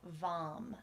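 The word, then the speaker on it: vam: will turn into the seed syllable vom v m and vom is the seed syllable or the sound that empowers our sacral chakras so this is the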